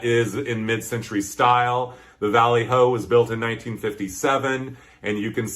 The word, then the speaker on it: Valley Ho: Valley Ho, that rhymes with Valley Ho.